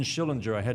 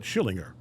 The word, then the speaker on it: Schillinger: Vernon Schillinger.